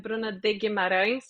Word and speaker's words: Bruna de Guimarães: Yeah, I mean to start I mean uh my name is Bruna and Bruna de Mar for people that don't know how to pronounce it.